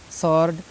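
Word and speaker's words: sword: सॉर्ड एस के बाद आया है, सॉर्ड पढ़ा जाएगा, सॉर्ड, नॉट सॉर्ड, सॉर्ड।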